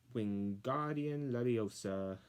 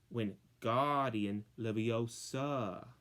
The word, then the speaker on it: Wingardium Leviosa: Wingardium Leviosa, he shouted, waving his long arms like a windmill. You're saying it wrong, Harry heard Hermione snap. It's Wingardium Leviosa. Make the gar sound longer.